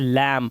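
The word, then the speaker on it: lamb: डम डम मतलब गूंगा यहां पर देख सकते हैं लैम सिर्फ लैम पढ़ रहे हैं लैम लैम मतलब भेड़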